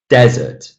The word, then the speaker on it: desert: I'm stressing the first syllable. Desert.